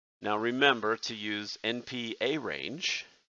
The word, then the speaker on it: arange: I want to always type arrange, the word arrange, but that has 2 R's. This command that we want to use is arange. I even pronounce it arange just to remind myself that there's only 1 R.